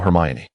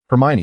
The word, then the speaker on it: Hermione: "Thank you, Hermione." Hermione smiled, shaking her head in gentle correction. "It's actually just Hermione."